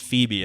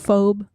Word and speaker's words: Phoebe: And then like a year later I figured out it was Phoebe, and I was like, I am an idiot.